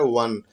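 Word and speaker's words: one: हो रहा है वन, लेकिन जब हम वन बोलते हैं तो अ नहीं बोलते, व बोलते हैं। र, ल, व, ल के बाद जो व आता है उस व का उच्चारण होता है, और वह व क्या है? व्यंजन वर्ण है।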